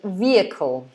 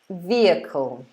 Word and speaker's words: vehicle: c we pronounce it vehicle vehicle vehicle so there's no h at all so it's yup vehicle